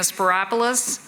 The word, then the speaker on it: Spyropoulos: I'm Sporopoulos and yes, it rhymes with Metropolis.